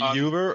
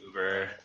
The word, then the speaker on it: Uber: Town by now um is it Yuber or Uber cuz my parents pronounce it Yuber it's Uber Yuber just like Manny you